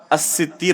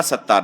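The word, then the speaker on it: السِّتِّير: تو حقیقت میں صحیح تلفظ اس نام کا کیا ہوگا؟ الستیر ہوگا، ستار نہیں.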